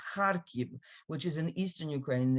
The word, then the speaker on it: Kharkiv: And everyone says Kharkiv, Kharkiv, and that's just wrong. It's Kharkiv. The accent is on the first syllables.